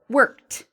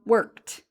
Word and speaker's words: worked: Worked. Okay, so it's one syllable, one clear line, worked.